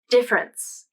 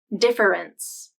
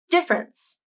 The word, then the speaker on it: difference: the first 10 speakers all of them pronounced it as two syllables difference and i agree this